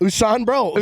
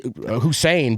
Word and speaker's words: Usain: Is that how you say it? Usain Bolt. Sure. Usain Bolt. Yeah. Did I put too much English on that? I say Hussein, but I don't think that's right either. No, that's not at all.